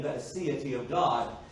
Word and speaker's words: Aseity: It's spelled A-S-E-I-T-Y, A-S-E-I-T-Y. It's the Aseity of God.